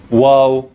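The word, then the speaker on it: واو: Waw, pronounced like the letter W. Wa, wa.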